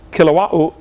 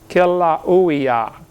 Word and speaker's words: Kilauea: Basalt from Mount Kilauea, how you say it? They pronounce every vowel over there in Hawaii. Kilauea, Kilauea-iki, but something like that.